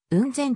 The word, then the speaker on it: 温泉: 現在の雲仙はもともと温泉と書いて雲仙と呼んでいた当社は遠隔上